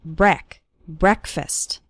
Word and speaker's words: breakfast: while eating breakfast and the first syllable of breakfast is pronounced with an e sound it's not like the word break it's like brec breakfast or listen to an